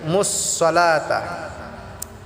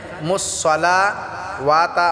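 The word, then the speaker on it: الصَّلَاةَ: এক আলিফ টেনে পড়বো মুসলাতা এখানে মুসলা ওয়াতা অনেকে বলে এখানে ওয়াটা পড়া যাবে না মুসলাতা লাটা আমরা এক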